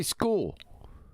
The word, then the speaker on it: school: Yeah, but how do you say school? School, SCHOOL. That's right. Enunciated SKOO. School, like skull.